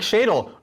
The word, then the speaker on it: Shadle: Nick Shadle rhymes with dreidel.